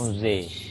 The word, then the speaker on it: Angers: Onze. Yeah. The spell Um, is Onze, right? yeah, The Angers, pronounce.